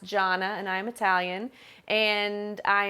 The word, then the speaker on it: Gianna: So you're going to see my name spelled Gianna, which looks like Gianna, but it's not. It's pronounced Jonna, and I'm Italian, and I am just very happy to be here.